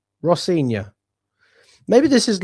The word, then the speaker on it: Rosenior: Um, it's pronounced Ross Sior. Ross Sior. Rossior.